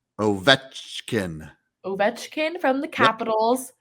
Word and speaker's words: Ovechkin: Ovechkin.